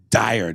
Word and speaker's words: Dyer: You might not remember me, but you mispronounced my last name. It's Dyer, nigga.